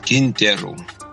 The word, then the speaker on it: Quintero: As Americans would say, it's Quintero. I'm not anal, but the correct pronunciation is Quintero.